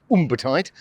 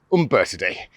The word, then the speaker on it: Umbertide: Some people pronounce it Umbertide, but it's Umbertide.